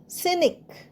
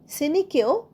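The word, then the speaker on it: scenic: এস সিই এন আই সিনিক সিনিকেও সি উচ্চারণ হচ্ছে না সিনিক মানে মনোরম দৃশ্যপূর্ণ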